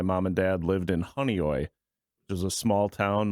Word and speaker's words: Honeoye: Oh, Honeoye.